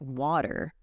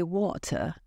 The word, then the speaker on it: water: like w a t in the US we say it like water and we really hear the r at the end it's different in the UK we say water softer and with a clearer T these small things make